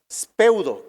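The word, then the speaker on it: σπεύδω: Y esta palabra spoudé tiene su raíz en la palabra griega speudo, con acento en la U.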